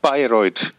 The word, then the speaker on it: Bayreuth: Se pronuncia Bayreuth.